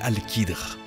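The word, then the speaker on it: al-Khidr: l'histoire nous apprend que son nom est alcadre prononcé alkidre et il était l'homme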